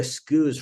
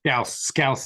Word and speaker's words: Scouse: Scouse is how it's pronounced. As someone who's born in Liverpool, but yeah, Scouse.